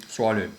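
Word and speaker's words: Tswalu: Have you been to how do you pronounce it? Swalu? Swalu, yeah.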